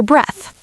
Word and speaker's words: breath: Breathe rhymes with seethe. Breath rhymes with death.